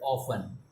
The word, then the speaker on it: often: word the second word often t is silent we generally don't pronounce t we often means we